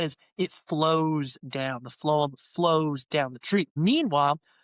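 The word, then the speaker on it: phloem: So the wood layer rather the layer that's closest to the wood is called the phum. And a pheum is spelled P H L O E M.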